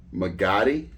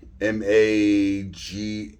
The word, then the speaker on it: Magatti: And I found this company here, and I believe they're pronounced Magatti, M-A-G-A-T-T-I, Magatti.